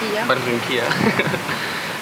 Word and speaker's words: Barranquilla: Barranquilla, ¿cómo se dice? Barranquilla.